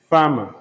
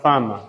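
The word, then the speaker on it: Fermor: there lack of hair belonging to lady Arabella farmer learned to Lady Arabella farmer herbalized spout a ah a b e double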